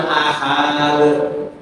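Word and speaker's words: أحد: Walam yakhu kufuwan ahad. Ya. Ahad. Walaupun hanya dua rakaat apalagi lebih itu teru salah. Karena ahad bacanya pendek.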